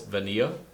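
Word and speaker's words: vainilla: That's how they say it in Espanol, is vanilla. The two L's make a Y sound.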